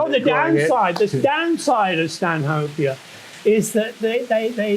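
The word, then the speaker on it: Stanhopea: Stan hoper Stan hopia I think they pronounce it Stan hopia but it's named after Earl of Stan hope in England um uh I lost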